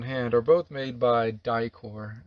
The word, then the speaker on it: Dicor: we keep on hand are both made by dicor it's spelled d-i-c-o-r they've got the industry standard yeah